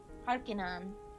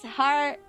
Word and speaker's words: Harkinian: Harkonnen. Harkinian? Oh, it's Harkinian! I didn't see the I there.